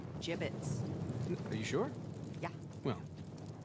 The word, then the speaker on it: Jibbitz: a he had some gibbets left over jibbitz what it's pronounced jibbitz are you sure yeah